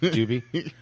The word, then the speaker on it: Dube: pronounced Doobie.